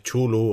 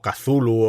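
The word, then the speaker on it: Cthulhu: su por la su los mitos de chulu o kazulu o como cada uno quiera quiera pronunciarlo pero que también eh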